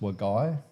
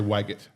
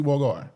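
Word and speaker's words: Wagait: calling it wagy right yeah how do you spell it it's like waget it it's it sounds like wagget but it's w a g a i t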